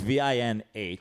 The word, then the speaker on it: Vinh: But it's VINH.